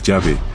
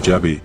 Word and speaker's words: Yahweh: estudiosos concuerdan en que la pronunciación más cercana a la verdad pudiera ser llave, según algunos y otros piensan que lo más acertado es decir Jehová, ya que al traducir la Biblia al español se le añadieron las vocales a Oa que vienen de Adonaí, nombre que usaban los judíos para evitar decir el nombre de Dios, probando así el nombre de Yahweé que se pronuncia algo así como llave.